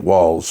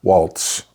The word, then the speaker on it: Waltz: of State or Mark Mike walls or Waltz let's pronounce his name right you know they've seen